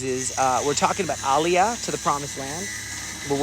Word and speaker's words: aliyah: So that's what we're doing here is we're doing this um aliyah return center. You can check it. I spell it aliyah.